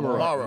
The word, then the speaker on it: Morrow: Is it Morrow or Morrow? Morrow. I always get the pronunciation Morrow, and then it goes on and on.